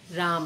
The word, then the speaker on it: राम: दिखाई देती है कि उच्चारण में अंक के अकार का लोक होने लगा यानि हम रामा ऐसा उच्चारण करके कैसे उच्चारण करने लगे राम कि यह मैंने लिखा